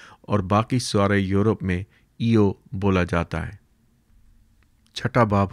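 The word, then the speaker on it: Io: لے گئے۔ نمبر 9۔ ایو کو امریکن اکثر و بیشتر آیو بھی بولتے ہیں، کیونکہ آکسفورڈ انگلش ڈکشنری میں یہ اس کا ترجیحی تلفظ ہے، لیکن برطانیہ کو اس کا کوئی خصوصی خیال نہیں۔ لفظ مشرقی بحیرہ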